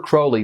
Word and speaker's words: Crowley: Stage Magic and yeah it actually is pronounced Crowley you can remember it by this little rhyme those who treat me fouly call me Crowley those who know I'm